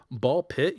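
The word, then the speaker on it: BALL x PIT: Haunty with two eyes, Ball Pit, you don't say the X, the X is silent, Blueprints, and Balders's Gate 3.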